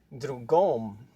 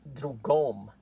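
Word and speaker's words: другом: stressed O is pronounced, the other word that means other in the instrumental case, drugom, is pronounced drugom. So even the sound is different.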